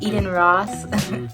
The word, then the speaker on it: Eden Ross: I said her name wrong in my last book video, but it's Eden Ross.